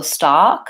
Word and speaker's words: stock: stock versus stack so stock my tongue is back and my mouth is also open ah and then lastly